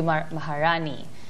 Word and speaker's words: Maharani: say that it's for mar mar oh that's wrong it should be Maharani it's like I think